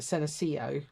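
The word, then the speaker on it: Senecio: shapes there's one in particular called uh I'm pronouncing it senio uh SE e n e c i o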